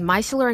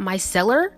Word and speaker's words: Micellar: but did you know it's pronounced my seller not my seller oh my gosh we